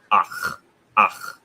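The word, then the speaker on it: אח: It's ach. That's how you pronounce it properly.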